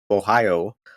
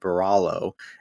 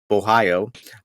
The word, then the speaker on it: Borralho: I nailed that prediction, and then we got Kyle Bohayo. the R's are silent. You guys got to remember that it's not Borralho, Bohio.